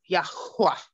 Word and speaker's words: Yahuwah: And so it's like, yeah, I've heard people say Yahweh. And to me, that still sounds like Yahuwah. Mm-hmm. Because I know that H is a breath, so it's Yahuwah.